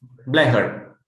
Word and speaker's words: Blecher: And I was recommended and given books when I was in Romania, and one, Max Blecher, is that how you say it? Blecher? Yes, Blecher.